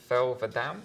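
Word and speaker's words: Thel 'Vadam: Okay, it's Thelvadam?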